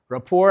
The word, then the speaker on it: rapport: Rapport, I think the T is silent there.